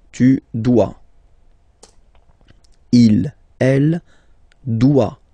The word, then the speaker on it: doit: Il, elle doit. Final T not pronounced.